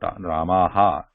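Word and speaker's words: रामः: Technically, the pronunciation of Visarga should not contain the her, complete her sound, Ramaha, Ramah, Ramah, Ramah, at the end.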